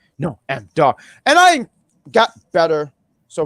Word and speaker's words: Noam Dar: So as I was sitting there not pronouncing his name right for so many weeks, I said, Noam Dar, Noam Dar.